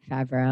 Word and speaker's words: Favre: So they're basically they uncovered a really wild set of corruption going on where the former football star Bet Favreau, am I pronouncing his name correctly?